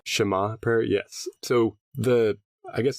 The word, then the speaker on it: Shema: Did I pronounce that right? Shema prayer, yes.